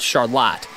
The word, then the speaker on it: Charlotte: name is spelled the same as Charlotte but pronounced Charlotte Charlotte lies among farmland and small Creeks that